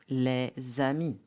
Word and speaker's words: les amis: For example, les amis, the friends, will be les amis. D becomes t. grand homme, a tall man. So, the correct pronunciation will be grand homme.